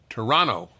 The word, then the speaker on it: Toronto: We begin Stephen 31, Toronto, Ontario, Canada. Or as you say in Toronto, Toronto. They don't pronounce the second T.